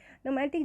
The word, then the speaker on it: gnomic: नोमैटिक जनाब देखें तो GNOMIC, जहाँ पर जी साइलेंट है।